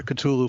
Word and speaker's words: Cthulhu: Or people pronounce it Cthulhu in different ways. I prefer Cthulhu for reasons that'll become clear.